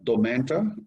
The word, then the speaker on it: Domantra: this for me is your business is called domento am i pronouncing it correctly yes i know a lot